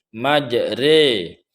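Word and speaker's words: مجراها: Jadi ra yang berharkat fathah di sini tidak lagi dibaca ro, melainkan dibaca seperti orang yang mengucapkan kalimat sate. Majre.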